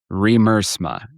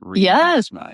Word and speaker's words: Remmer: It's It's so funny how long I mispronounced your last name. It's Remmer. Correct. Remma. Yes. Well said. I have friends who've been friends with me for 30 years who still can't say it correctly.